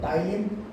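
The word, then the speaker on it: ptyalin: टाइलिन, ये silent होता है, उसको टाइलिन बोलते हैं, और लाइसोजाइम।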